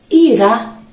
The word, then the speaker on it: irá: E aí temos Ira veja como eu pronuncio Ira e em seguida temos irá veja que há uma intensidade noá Ira se formos analisar